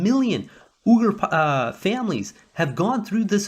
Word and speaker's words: Uyghur: If most people, they pronounce it Uyghur, it's actually pronounced Uyghur, according to one of my Russian friends.